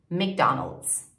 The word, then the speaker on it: McDonald's: McDonald's.